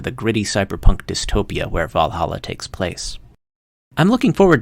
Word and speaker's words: VA-11 Hall-A: The game's title is stylized as VA-11 Hall-A, although it's pronounced Valhalla like the Viking heaven.